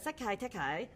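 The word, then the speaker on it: Sekai Taikai: I know you guys came up with them on the show, but at the Sekai Tekai.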